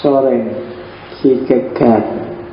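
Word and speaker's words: Søren Kierkegaard: Kopenhagen Denmark namanya adalah soreng gegat kalau pakai lidahnya orang sana biasanya membacanya agak bulat di belakang jadi solengeg Rod masuk ke kerongkongan suaranya jadi jadi O bukan A tapi ya gak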